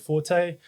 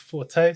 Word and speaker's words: Forte: Well, you can go onto my YouTube page, which is called Forte. F R T E, and it's not pronounced for, it's Forte.